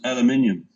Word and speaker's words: aluminium: Well, the proper British way is aluminium.